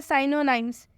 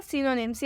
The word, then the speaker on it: synonyms: उच्चारण गलत करते हैं वो ऐसे बोल देते हैं साइनो नेम्स जो की गलत है चैनल हो जाता है इसका उच्चारण होगा सायनोनिम्स से उच्चारण है तो